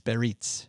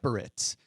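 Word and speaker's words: Biarritz: It's Beritz. So, that's probably two different places. Barits. Bits. Yes. It looks like Baritz, but my daughter uh changed my mind by pronouncing it uh several times, but we're staying at this really nice hotel.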